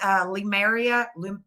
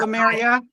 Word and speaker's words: Lemuria: This is Lemuria. Lemuria. I say Lou, but it's spelled Lem. Yeah, U-R-I. Lemuria.